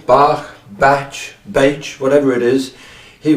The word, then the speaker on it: Bach: So that's possibly how it came to be that he's often called Bach. But I prefer Bach.